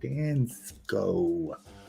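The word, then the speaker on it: Dansco: we go here we go that's how you pronounce it dance go okay they got set three and twenty Cent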